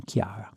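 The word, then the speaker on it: Chiara: older version Clara and an Italian and Irish spelling for the pronunciation Kiara here's the plot notice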